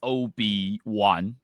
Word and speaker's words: OB1: Actually, it's OB1. Oh, Obi-Wan. Oh, Yeah, it's kind of OB1. Yeah. I see. Okay, like the character from Star Wars.